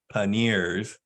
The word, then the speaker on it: panniers: So there are these side bags called panniers, which is pronounced panniers, like even though it's spelled P-A-N-N-I-E-R-S, it's a French word.